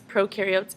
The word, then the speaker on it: prokaryote: Cells can be broken up into two different categories, prokaryotes and eukaryotes. A quick trick I use to remember the difference is pro rhymes with no, therefore prokaryotes do not have a nucleus.